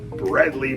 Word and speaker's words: Bredli: cool clutch from my stonewash bradley python that's right that's the right way to say it i have australian friends bradley python uh she